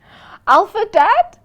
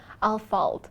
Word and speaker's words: Ahlfeldt: Alpha Dad. Alpha Dad. It's Al. But it's a running joke. It's all right. Al, you know the pronunciation is so Okay. You know what? Al falt.